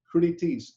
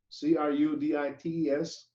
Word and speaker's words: crudités: Some common foods cut the style of our French fries in crudités. Crudités. You guys know what crudités are? C-R-U-D-I-T-E-S, or crudites, or whatever you want to pronounce it.